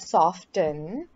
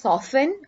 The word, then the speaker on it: soften: is to get softened so the way we pronounce this word soften it's different based on the different pronunciations for example so you can either pronounce it as soften or saffin okay when you're saying soft you say the